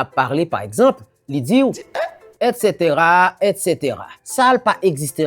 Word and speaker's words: et cetera: Ça se prononce et cetera et cetera.